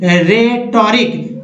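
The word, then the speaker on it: rhetoric: तो दोस्तों इसमें RH में जो है R के बाद H का उच्चारण नहीं करना है, क्या पढ़ना है, R को पढ़ना है, उसके बाद पढ़ना है, यानी राइम, रिद्म, रेटोरिक या रैप्सोडी।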